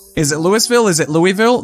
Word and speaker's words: Louisville: it's supposed to be Louisville is it Louisville is it Louisville they people that live there call it Louisville so I mean that